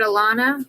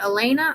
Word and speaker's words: Elena: Or is it Alana? Is it Elena or Alana? Like Elena or Alana? The first one. Elena? Okay, I said it right.